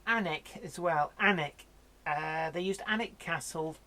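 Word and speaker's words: Alnwick: yeah it's barrack and anak but anak is spelt all Wieck Britain's weird for pronunciation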